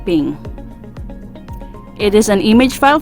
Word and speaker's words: PNG: is portable network graphics png or pronounced as ping it is an image